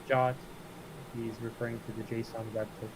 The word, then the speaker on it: JWT: ever hear it said aloud I always said JWT but turns out the actual way of saying it is God so for people that don't know uh when Lewis is saying jot he's referring to the Json website and that's